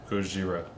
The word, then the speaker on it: Gojira: It's called Gojira. You all pronounced it wrong.